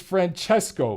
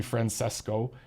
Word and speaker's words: Francesco: that it's Francesco fool learn how to speak Italian I mean they could have asked pianet de unless P and that you know refuses to pronounce his name the way it should be pronounced and he he wants to be Francisco it's Francesco just to let you guys